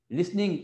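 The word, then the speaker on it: listening: होंगे यूपी लिसनिंग music लिसनिंग एंड आईएस सीएनजी बोलते नहीं ली थी साइलेंट है सफेद का म्यूजिक फुल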